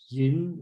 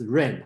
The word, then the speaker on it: 仁: And their Cantonese pronunciation, kind of like Yin or Yin. So you will see a lot of pronunciation J-E-N, okay?